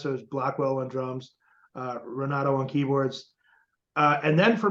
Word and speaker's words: Renato: Renato.